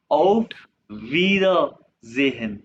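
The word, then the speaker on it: Auf Wiedersehen: ऑफ, ये आई ई को हमने अभी पढ़ा कि इसको ई प्रोनाउंस करते हैं, इंग्लिश वाला ई, वीदा जेहन, ई एस जेड के बाद, ऑफ वीदा जेहन, इसका मीन है बाय बाय, यानी कि सी यू के।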